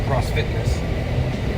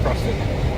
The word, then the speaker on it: CrossFit: Did I say it wrong? I call it CrossFitness. Is that wrong? It's just CrossFit.